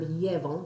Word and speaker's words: llevo: If you were to pronounce the verb llevo, like I'm taking something, you can hear, hopefully, the accent on the E, even though there's no written one.